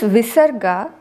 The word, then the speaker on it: visarga: This visarga is actually supposed to be pronounced as an expulsion of air. But mostly in the south we pronounce it as aha. That has been the usage predominantly in the south. So since I am also from the south, I might sometimes pronounce it that way, but most of the times I do try to pronounce it like an expulsion.